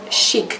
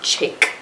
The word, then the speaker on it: Chic: I actually learned that you pronounce it Chic Cosmetics, not Chic Cosmetics. I used to say Chic. But it's Chic Cosmetics, so I'm gonna use